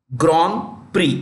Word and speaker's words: Grand Prix: Grand Prix Grand Prix it's French Grand Prix PRI the last letters are silent and you know um